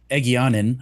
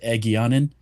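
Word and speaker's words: Egeanin: you recalling Tanchiko in the books, Egyanin, I don't know if that's how people pronounce her name. That's how I say Egyanin, the Shanchan. Yeah, that's good enough. Yeah, that's how I say it.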